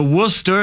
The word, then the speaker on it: Worcester: The Worcester, is that how you're pronouncing it right? Worcester, yeah.